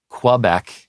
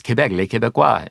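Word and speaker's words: Québec: mold over that one Quebec is how you often hear it right and that is mental work for me from years half of my life or more French speaker visited Quebec right yeah and for for me it's it's quebecue uh so uh anyhow well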